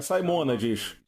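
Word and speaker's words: Simonides: Agora, o ponto é: Simonades? Simonades? Certo, estou corrigindo minha pronúncia. É Simonades.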